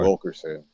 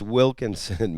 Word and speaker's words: Wilkinson: Wilkerson the time. It's Wilkinson, man. Just like if you're gonna go after somebody, then fucking at least pronounce their name correctly.